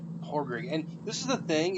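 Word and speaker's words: Pádraic: all right all right they don't pronounce the d it's like it's not pad rig or podrig or whatever it's like horroring and this is the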